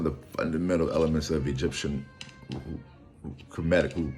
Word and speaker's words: Kemet: This is one of the fundamental elements of Egyptian Kemetic, who call themselves, call their land Kemet. That's how we pronounce it, Kemet, KMT. There are no vowels in that script, but which means the land of the black.